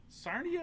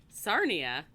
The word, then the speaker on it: Sarnia: It rhymes with Narnia.